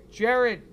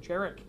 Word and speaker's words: Jarek: Jared. Did I say Jared? Jarek.